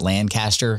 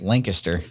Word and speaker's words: Lancaster: It's funny because when I first got to Lancaster, I was calling it Lancaster because that's how it's spelled. Sure. But you're not from around here. I'm like, it's Lancaster. But yeah, no, just great people.